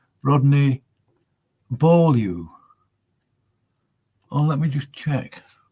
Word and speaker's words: Beaulieu: That's a compound of two words, that last name. Rodney Beaulieu. But it's not Rodney Below. Although he may pronounce it like that. It depends, doesn't it?